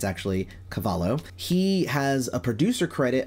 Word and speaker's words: Cavallo: So the next one I have is Bob Cavallo, and I pronounced it Bob Cavallo before, but I was told that it's actually Cavallo.